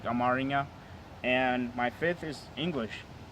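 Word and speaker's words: አማርኛ: my fourth one was Amharic, and then we say it like Amaringa, and my fifth is English.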